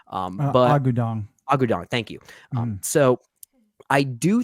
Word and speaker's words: Agudong: do think Nani here acknowledges, played by Signy Agwong. I don't know if I'm pronouncing her name right, but Agudong, thank you.